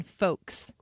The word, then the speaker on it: folks: uh 15 77 Ethan do you say the L in folks m H hey folks hey folks probably not cuz you're smart folks I don't think I say it like that because it would be wrong and you're a broadcaster you're an official broadcaster unlike us totally I don't think that anybody ever said hey you know that word folks there's a silent l in there I don't think anybody